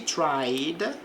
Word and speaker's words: tried: Então veja, she tried, está no passado, ela tentou. Então aqui não pronuncia o E.